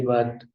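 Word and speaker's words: باء: جو تلفظ ہے وہ اردو میں ہم لوگ بے کرتے ہیں، لیکن عربی میں با ہوگا، با، اور جو اس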